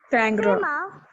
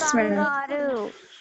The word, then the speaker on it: kangaroo: ఇట్స్ నాట్ కంగారు, ఇట్స్ kangaroo. It's kangaroo. ఇవి రెండు separate words. This is can, this is grew, this is kangaroo.